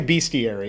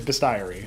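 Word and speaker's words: bestiary: Yeah, you don't say beastiary. I know that's confusing because it's it's spelled with a the same way in some nomenclature, but it is bestie.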